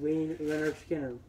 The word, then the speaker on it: Lynyrd Skynyrd: It's Lynyrd Skynyrd, pronounced Lynyrd Skynyrd.